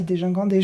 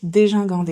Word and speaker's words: dégingandé: Quand on regarde le dictionnaire, quand on regarde la phonétique, l'alphabet phonétique, c'est dégingandé. Bah oui, il y a pas de, c'est pas GUI. C'est GI. Comme gin tonic.